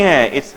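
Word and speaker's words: Hyatt: कहां तुम हयात में चल गए भाई? हयात नहीं है, इट्स हाइट. ट्राई to learn the pronunciation.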